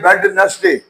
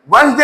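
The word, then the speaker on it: Wednesday: हम पढ़ते हैं वेडनेसडे। हम कहते हैं वेडनेसडे। वेडनेसडे में बेसिकली डी साइलेंट होता है, वसडे होता है।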